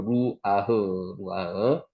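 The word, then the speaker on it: רוּחַ: 바브의 점이 여기 찍히면은 옆에 찍히면은 우 발음이 나죠. 요게 루, 그래 리얼하고 루아흐 영 호흡을 뜻합니다.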